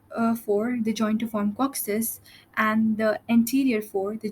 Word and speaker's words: coccyx: join to form coccyx cocc six is basically your tailbone and it it gets a little bit hard to pronounce it as let's spell it but just remember it's six uh so um over